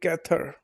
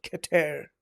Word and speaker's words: Keter: It's called kather not kater.